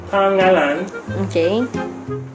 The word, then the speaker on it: pangalan: How do you pronounce it? Pangalan.